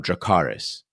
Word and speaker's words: Dracarys: between these deadly adversaries the correct high Valyrian pronunciation of dracarys RI Pema Sunday season